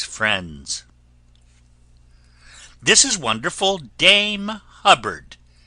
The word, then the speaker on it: Hubbard: This is wonderful Dame Hubbard, name that always rhymes with cupboard.